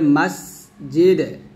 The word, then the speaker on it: মসজিদে: এই জিমের উচ্চারণটা কোথায় করতে হবে, জিব্বার মধ্যখান, তার উপর তালার সঙ্গে লাগাতে হবে। মাস, আর সিনটা অবশ্যই নিচে যাতে মাঝখানে লাগবে, বাতাস বের হবে। মসজিদে মসজিদে, দালটা কলকলা হবে, আর সিন এখানে বাতাস হবে, হামস।